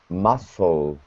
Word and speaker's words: Muscle: per massim muscal prod wait wait mle musle musle the C is silent Maxim musle ah Maxim